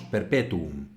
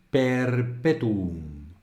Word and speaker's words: perpetuo: sílabas larga lo cual para un español es un poco contraintuitivo diríamos Perpetuo y ya está pero en latín tenemos que decir Perpetuo Perpetuo Perpetuo y tenemos que hacer